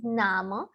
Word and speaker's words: Namen: Nama, you see the name spelling is the same, but the pronunciation is Nama.